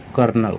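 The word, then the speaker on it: colonel: कर्नल।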